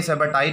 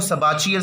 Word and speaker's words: Sabatier: इसको सबाचियर सेंडरेंस रिएक्शन भी कई लोग पढ़ते हैं, तो दोनों तरह से इसको प्रोनाउंस किया जा सकता है, इसमें कोई प्रॉब्लम नहीं है।